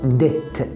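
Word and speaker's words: debt: الدين لما يكون واحد عليه دين، دين صغير في رقبتك فانا ال 15 جنيه عليك، اسمه ديت. البي هنا ما بتنطقش سايلنت.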